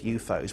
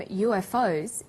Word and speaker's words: UFO: You'll notice that in the story, the term UFOs is pronounced UFOs. We usually say UFO.